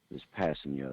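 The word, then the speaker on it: Kpassagnon: Yeah, I just looked up the pronunciation for this Passigno.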